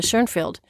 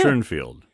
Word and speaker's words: Schoenfeld: Schoenfield? Or Schoenfeld? Okay, I'm talking about. I am so confused. Okay, the guy who lives in Michigan is Paul Schoenfeld. But Right. it depends if you say his name in German or English.